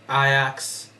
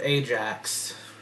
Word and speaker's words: Ajax: And then Ajax instead of Ajax. Believe me, there are people that would mispronounce the name, so.